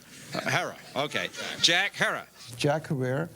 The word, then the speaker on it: Herer: shot by a cop Jack Herer have I pronounced it correctly Jack herrer Hera okay Jack Hera Jack herrer Jack har Jack